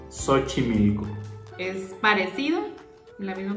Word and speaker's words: Xochimilco: La siguiente es parecida a la de Xochitl, pero este es un lugar en Ciudad de México que se llama Xochimilco. Xochimilco. Es parecido, la misma pronunciación.